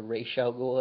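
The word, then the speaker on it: Ra's al Ghul: got the Joker Bane Italian or I'm sorry racial goal is he's actually supposed to be pronounced uh just the best villains so I'm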